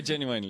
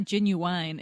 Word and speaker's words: genuine: getting really watch I genuinely left genuinely you didn't you Wiley no no it's not Ginuwine it's not like the truth no it's genuine okay living with your